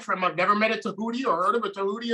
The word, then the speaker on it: Tehuti: Yeah, most people say Tehuti, so my name is spelled Tehuti, but people pronounce it like it's Tehudi. But so that's why I say my name is Tehuti.